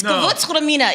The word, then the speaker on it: Gewürztraminer: No, it's Gewürztraminer.